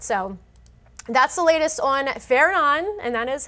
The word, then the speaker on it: Fernand: So, that's the latest on Fenon and that is how you pronounce it.